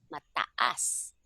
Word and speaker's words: mataas: Ang puno ay matas, Mataas. Okay, you have to pronounce mataas. all the vowels.